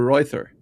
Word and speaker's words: Reuther: such as Walter and Victor Reuther or Royther. I think it's Reuther. Royther would be the German pronunciation, but I guess it's probably Reuther cuz we're in America now.